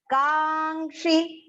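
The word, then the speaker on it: काङ्क्षि: Kangshi. Kangshi. Here ka is long and next you can see partial nasal ng is half there and the ksha is complete.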